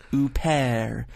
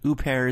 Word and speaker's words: Huppert: The H is silent, Huppert. So basically, Isabelle Huppert. Huppert is the lame brain English way of saying it.